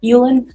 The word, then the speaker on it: Ulan: How do you pronounce your last name? Yulan. Yulan. Okay. I've been watching too many Korean dramas, so I'm pronouncing it differently now.